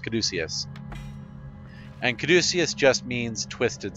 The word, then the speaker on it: caduceus: with feathers all over it but it is pronounced caduceus not coddycius don't even think it's pronounced kadjacius it's pronounced caduceus and caduceus just means twisted staff and you